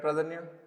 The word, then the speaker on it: Pradhanya: Pradhanya, am I saying it right, Pradhanya? Yes, you're saying it correctly.